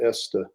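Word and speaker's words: Oeste: I can't pronounce it it's o-e-s-t-e-ust so your area is called the esta region of Portugal you know there are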